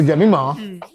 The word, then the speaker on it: Jemimah: You're not wrong also, because my name can be pronounced both ways. But just be preferred, Jemmimah.